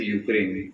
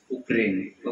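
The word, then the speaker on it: Ukraine: This is not actually pronounced as यूक्रेन, इसको क्या बोलते हैं, उक्रेन।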